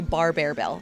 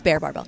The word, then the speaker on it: Bear Barbell: No, people say bar bear bell. That's what it is. Okay, anyway, it's bear barbell.